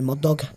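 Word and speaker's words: Murdaugh: It's spelt funny, but it's Murdoch with a GH at the end. Right, rather than UCH. Murdoch. So it's Murdoch. It's Murdoch. A silent H. A silent G and H.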